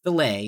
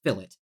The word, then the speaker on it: fillet: on Billet yes no I'm not pronouncing It Wrong by the way it's not filet it's fill it and remember this is